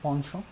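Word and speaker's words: penchant: इसको आप पेंचेंट भी पढ़ सकते हैं, बट इसका सही प्रोनाउंसिएशन है पॉन्शों।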